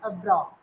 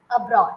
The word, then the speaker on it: abroad: See, your mouth is like O. Abro, but my mouth is abroad. Can you see the difference? Okay. Abroad.